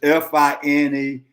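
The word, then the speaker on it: Finebaum: It's Finebum. I'm sorry. That's it's pronounced bum, B-U-M. Okay, and the other guy is Stephen A.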